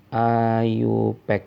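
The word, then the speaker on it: IUPAC: Ayu Pak jadi namanya adalah taturan tatanama menurut Ayu Pak kita bacanya Ayub ekajaya a tulisannya yups yups ini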